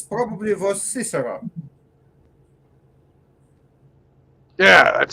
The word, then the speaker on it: Cicero: It's for English pronunciation is Cicero, and I always knew him like Ciceron, and it's quite different in pronunciation.